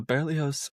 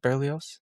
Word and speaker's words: Berlioz: that's in my schooling how everyone that's the Americanized pronunciation. I'm sure there's a French version that has somehow more syllables or hmm maybe suddenly less. Or That's another thing yeah, that happens. sometimes there's less consonants. Like it could be Berlos. it could just be Berlos.